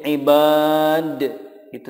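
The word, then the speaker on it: عبادي: Alif Lurus di sini contoh berikutnya ibadi di sini dipanjangkan yaadinya tidak dibaca pendek contoh ibadi atau menjadi Ibad itu salah tetapi yang betul cara membacanya adalah ibadi y-nya sudah disukunkan variasi berikutnya adalah Apabila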